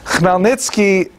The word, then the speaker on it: Chmielnicki: written in Polish, and if you understand Polish phonetics, you'll know that it's pronounced Chmielnicki, which is also not so easy to pronounce, but that's not our job at any rate. Chmielnicki brought together a band